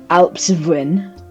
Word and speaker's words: Alps Spin: called Alps Spin, but it's pronounced Alpsvin because it's like kind of alpine This areas area like is based off like an alpine German forest. yeah. And So native. Alpsvin, it just sounds more German.